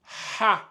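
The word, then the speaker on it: حاء: dans la langue arabe le H il se prononce bien il est vocalisé donc on dit vous devez sentir au niveau de la gorge ici ça va donner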